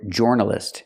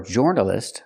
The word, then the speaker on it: journalist: I cannot pronounce the word journalist. It's not or journalist, like Floor and More. It's journalist. We use the sound like burger.